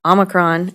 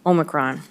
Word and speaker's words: Omicron: Actually, there's 2 different ways of pronouncing that. I looked it up. There's the American version, which is Omicron, and there's the British version, which is Omicron.